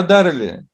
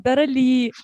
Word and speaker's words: Дарали: У меня ударение на последний слог. Дарали.